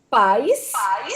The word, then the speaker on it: pais: Olha, observe a diferença na pronúncia. Pais, que são o pai e a mãe.